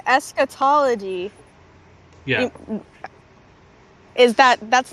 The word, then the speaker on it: eschatology: But like as much as his books deal with eschatology, is that how you pronounce it? Eschatology.